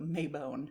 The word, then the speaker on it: Mabon: And at one point she was like, gave me all the pronunciations. And I just decided on the spot, it will never be anything but Mabon.